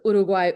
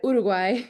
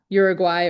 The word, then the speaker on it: Uruguay: This is why when I pronounce Uruguay, Uruguay, it's not Uruguay or Uruguay.